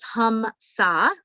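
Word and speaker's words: hamsa: one we're taught is hum sa hum saw which is spelled h-a-m-s-a which is that i'm one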